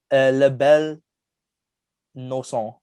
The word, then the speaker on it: La Belle Noiseuse: But La Belle Noiseuse, which is a beautiful nuisance.